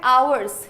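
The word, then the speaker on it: hour: है यहां लिखा है आवर्स है ना इसका जो साउंड आता है इसका जो उच्चारण करते हैं हम वो कैसे करते हैं आवर बोलेंगे आवर यानी ववलू है ववलू अगर आ रहा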